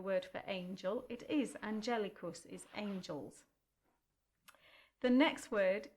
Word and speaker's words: Angelicus: And then the next word has four syllables and four notes to go with them. Angelicus. And again, Angelicus.